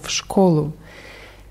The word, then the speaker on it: школу: Die Betonung ist auf O, Schkolu. Bibliotheka klingt fast wie im Deutschen.